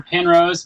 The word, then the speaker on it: Penrose: Penrose, PENROSE.